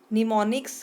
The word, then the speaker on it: mnemonics: निमोनिक्स की spelling है MNEMONICS, निमोनिक्स।